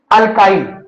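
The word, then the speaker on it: alkyl: मतलब बोलने के लिए, प्रोनाउंसिएशन के लिए हम लोग क्या यूज करते हैं, अल्काइल।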